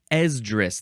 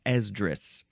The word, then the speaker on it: Esdras: Esdras, that's how you pronounce it. Esdras, with a capital E.